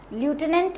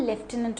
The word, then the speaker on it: lieutenant: अ लेफ्टिनेंट, देखो spelling इधर देखो लेफ्टिनेंट की, दैट इज ल्यूटिनेंट, हम लिखते हैं उसको LIEUTENANT, ल्यूटिनेंट। ल्यूटिनेंट हम इसको बोलते नहीं हैं, हमारा स्पेलिंग ये आता है, इसको हम लेफ्टिनेंट बोलते हैं।